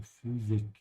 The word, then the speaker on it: Physik: And the Y is a bit of a U with umlaut, so Physik.